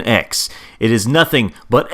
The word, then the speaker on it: X: they should pronounce the x button on the PlayStation controller to jump look you can make up whatever bullcrap word you want but it's not cross it's X it has always been X it is nothing but